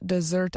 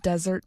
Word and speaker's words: Desert: de or island of desert mountains today locals still say the word desert similar to its French pronunciation deser Champlain and his